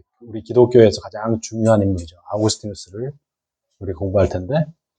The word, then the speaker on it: 아우구스티누스: 아우구스티누스를 우리 공부할 텐데, 이 아우구스티누스라는 사람이 여러분 아마 한 번은 들어보셨을 거예요. 그렇죠? 아우구스티누스 처음 들어보시는 분? 처음 들어보셨어요? 네. 그러면 어거스틴이라는 이름은 들어보셨죠? 어거스틴. 네, 똑같은 이름입니다. 같은 사람이에요. 어거스틴은 이제 영어식 발음이고요.